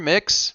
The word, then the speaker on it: Mx: okay uh you're um how do you pronounce mx mr mix mix mix okay so it's not